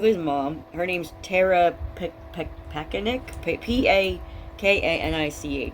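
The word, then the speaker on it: Pakanich: Her name's Tara Pakanik, P-A-K-A-N-I-C-H. And the C-H at the end sounds like a K, because I remember it from court, but I don't really remember how they pronounce the whole thing.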